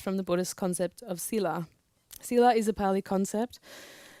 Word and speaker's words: sila: Pronounced thila by Plong people in Hpa-an district as in the Burmese language.